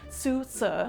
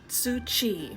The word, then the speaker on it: Tzŭ Hsi: Life and Times of Susu. I overthought this one and that's why I mispronounced it. It should be said, "Being the history of the life and times of Tsuchi."